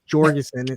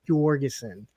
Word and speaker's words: Jorgensen: Their poor kid is going to be going around pronouncing their name wrong, thinking that it's Jorgensen. No, it's Jorgensen.